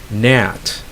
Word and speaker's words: gnat: T there next is NAT let's say it's an insect it's a it's like a biting fly a gnat okay again you don't pronounce the G next is new that's